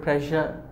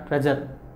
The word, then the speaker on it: pressure: a lot of pressure the pronunciation of this word pressure ok not a pressure pressure my boss is very